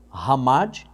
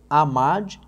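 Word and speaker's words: חמד: Então anote aí, Ramad. Até interessante lembrar que a expressão, o H no hebraico tem som de R. Então você vai ler, vai escrever amad, mas se pronuncia Ramad, tá?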